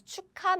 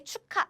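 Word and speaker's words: 축하: So we read it as cha chu because there is a ch here and ca because this is now a so this is how we pronounce chuka means celebration. It's a noun cha we don't say cha cha. We don't say it this way. We say chuka cha cha.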